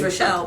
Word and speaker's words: Rachel: it's Rochelle, but it's spelled like Rachel.